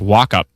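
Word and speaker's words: Wauchope: Oh, it's pronounced walkup.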